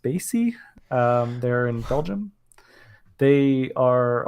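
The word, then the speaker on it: Spatie: one was this company I think they are pronounced Spacey they're in Belgium they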